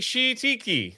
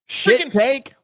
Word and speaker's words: shiitake: Every time they would send it, everyone's like, she tiki. Like they would say stuff and just keep it moving. I'm like trying to stop them. Like, you guys are saying it wrong. Shiitake.